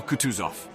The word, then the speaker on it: Kutuzov: Prince said Anna pavlovna General kutuzov said bulkonski speaking French and stressing the last syllable of the general's name like a Frenchman he's been pleased to